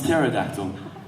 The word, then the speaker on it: pterodactyl: love her that feel becomes pterodactyl but you can't hear go to the restroom because the pee is silent and you hit the